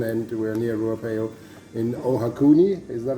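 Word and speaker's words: Ohakune: We're near Ruapeo in Ohakuni, is that right?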